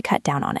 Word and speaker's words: cut down on: This one is tricky to pronounce because of the three words together. Cut down on. Stress the word down.